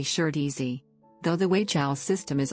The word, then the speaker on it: Shih Tzu: The Mandarin Chinese pronunciation is approximately shirtzy.